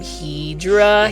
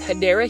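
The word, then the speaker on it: Hedera: but just like um hedra helix or the correct way to say it is hadera helix or English ivy these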